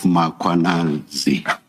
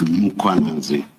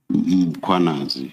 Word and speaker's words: Mkhwanazi: You repeatedly talk of Mkhwanazi. There is no A right at the beginning of that first syllable. The A is after the H, so it's Mkhwanazi, not Mkhwanazi.